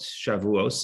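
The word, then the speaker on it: Shavuos: the day of shavuot shavuots is that ashkenazi pronunciation day of shabbat raviyasif would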